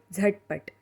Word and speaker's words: झटपट: यहाँ झ का प्रोनाउंसिएशन अलग है, ध्यान से सुनिए। झटपट, इसका प्रोनाउंसिएशन करने के लिए एक सिंपल तरीका बताती हूँ। अगर हम ज को ज़ोर देकर बोलेंगे तो झ बन जाएगा।